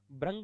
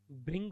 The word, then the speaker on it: भृंग: भ्रंग नहीं होगा, भृंग होगा। भृंग मानी भंवरा होता है। अब बोलते भ्रंग है तो गलती होगा।